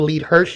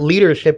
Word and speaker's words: LeadHERShip: and and about the lead her Academy and I just want to make sure that I'm pronouncing that right and everybody knows it's not leadership it's lead her H rship Academy is